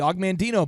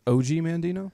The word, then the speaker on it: Og Mandino: Is it not pronounced OG Mandino? This is Og Mandino, but he could have been an OG.